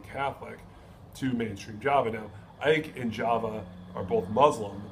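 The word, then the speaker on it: Aceh: As I mentioned earlier, he talked about the Ike province. I think I'm pronouncing that correctly. It's AECH, and it is the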